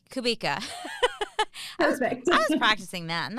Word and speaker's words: Kubica: saying wait it reminds it rhymes with Topeka so kubi kubika I was practicing that